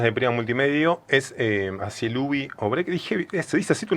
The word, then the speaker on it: Cielubi: Me llamo Cielubi, algunos me conocen como Cielu. Es como una acentuación en la primera sílaba. Cielubi.